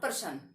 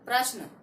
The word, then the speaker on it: प्रश्न: कई बच्चे इसका उच्चारण करते हैं प्रश्न, इट इज नॉट पर्सन, इट इज नॉट पर्सन। क्या है ये, प्रश्न। क्या है, प्रश्न। इट इज नॉट पर्सन, इट इज प्रश्न।